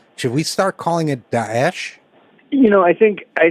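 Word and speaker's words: Daesh: calling it prefer rather to call it D dases which is the Arabic pronunciation of the but also sounds a little bit like I think an impolite Arabic word so should we start calling it dases you know I think I think this is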